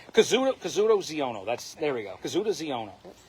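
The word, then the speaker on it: Kazuda Xiono: I'm gonna Kyoto Ziono. It's bugging me now that I get his name wrong. Kazuto Ziono.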